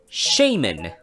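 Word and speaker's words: Shaymin: 見ていきましょう英語の名前と発音はシェイ maine 中国語でありがとうを意味するシェイン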